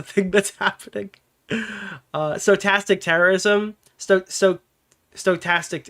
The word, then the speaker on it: stochastic: Stochastic, it's stochastic terrorism, right? That's how you fucking pronounce it.